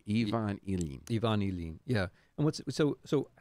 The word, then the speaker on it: Ilyin: Ilyin said his name wrong. Ivan Ilyin.